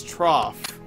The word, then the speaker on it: trough: storage oh really or feeding trow either way trough trout it looks like trout to me I don't know but some people have said it's it's pronounced as trough you would think if it was properly if